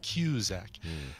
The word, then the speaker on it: Cusack: Cusack music I guess as confirmed of how it's pronounced cue Zach and last night there